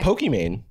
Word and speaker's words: Pokimane: Pokimane. Yeah, she like, well, it's like because even of Pokemon, Rihanna. Because her name's Iman.